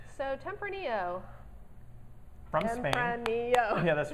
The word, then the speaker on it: Tempranillo: You know I'm limited to only a couple syllables. So Tempranillo. From Spain. Tempranillo.